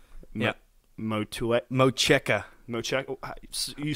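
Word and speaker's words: Motueka: It's the Vic Secret, Mosaic, and Matuka. Yeah. Mocheka. Mocheka. You say that some way. Well, I Googled it, and that's how you pronounce it.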